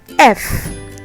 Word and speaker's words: F: F, it sounds the same as in English. F.